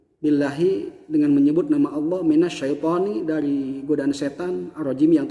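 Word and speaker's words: من الشيطان: Minasyaiton, minasyai. Padahal mah iya ini dari was tulisan tengah-tengah lidah.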